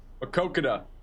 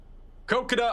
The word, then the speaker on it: Maquoketa: The storm still looks very very ominous over here near I have to get the pronunciation again. Maquoketa. Maquoketa, Iowa.